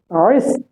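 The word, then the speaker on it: wrist: जाएगा साइलेंट हो जाएगा उसके बाद में इसमें क्या है य पर डब्लू जो है उसका साउंड नहीं निकलेगा आर से साउंड बनेगा तो इसे क्या कहेंगे हम रिस क्या कहेंगे हम रिस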